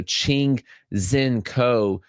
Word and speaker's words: Ching-Hsien Ko: So, Ching Zen Co is the name that you're looking at there.